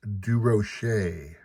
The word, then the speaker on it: Durocher: The correct French pronunciation of DeRocher is Durocher.